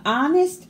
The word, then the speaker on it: honest: The honest air admits that herbalism isn't his cup of tea.